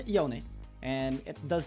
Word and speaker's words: Yone: have a different neighborhood in English it just makes sense as yon so yeah well it is it's up to the the one reading the name and I think that's how they they pronounce it here we say the Yoni and it does sound